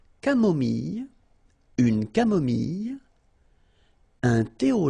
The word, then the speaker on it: camomille: So remember when we get this E and then double L, it goes like ye, ye. Mille, mille. Camomille.